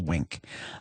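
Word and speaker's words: Winc: Uh, honestly, and I love Wink. Now, that's spelled W I N C.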